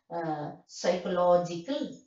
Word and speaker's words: psychological: light stress, that is psychological. So the first syllable psi, you know, is stressed, that is secondary stress. Psychological, logical, that is primary stress, because you know that syllable is stressed with extra force.